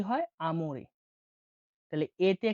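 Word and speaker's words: amore: বাংলা উচ্চারণে কি হয়? আমরে।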